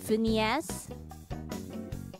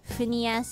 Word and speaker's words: Phineas: How do you say that? Something in Ferb? Phineas? Phineas and Ferb?